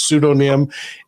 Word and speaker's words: pseudonym: I said pseudonym in a recording this week, and I got corrected by like 18 or 19 people telling me it's pseudonym, and I should have known that, but I've